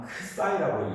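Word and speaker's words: ξ: 자, 요게 요걸 그리스터자로만 크사이라고 읽어요. 크사이파이가 아니고 크사이 d 타우로 타로 - t라고 하는 거예요.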